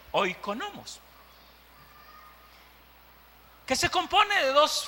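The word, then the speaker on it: οἰκονόμος: Hay una palabra en el griego que es oikonomos. Oiga, oikonomos. Eso significa administrador o administradores. Se pronuncia oikonomos, que se compone de dos frases.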